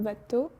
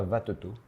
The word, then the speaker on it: Vattetot: on va aussi parler de votre dernier album vato tu le prononce bien alors ça se prononce VAT donc c'est très bien ça se prononce pas vato ouais VAT d'accord par du coup pourquoi vous